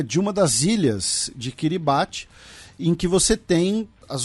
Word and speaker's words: Kiribati: Inclusive, várias pessoas lembrando, né, que a pronúncia não é Kiribati, é Kiribati.